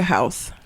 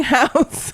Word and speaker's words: Howse: First of all, her last name being House, it's not spelled the same. It's HOWSE, but still.